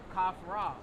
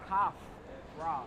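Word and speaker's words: Khafra: Kafra. Oh, what? You know what language it is? That's That's Kafra.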